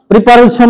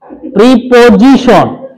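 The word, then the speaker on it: preposition: verb তারপরে হলো এট verb তারপরে হলো প্রিপজিশন প্রিপারজিশন বলো না আবার প্রিপজিশন তারপরে হলো কনজাংশন তারপরে হলো ইন্টারজেকশন না হলে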